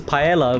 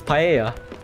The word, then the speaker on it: paella: in alpha i said i pronounced this paella but it's paella perfect stella you've got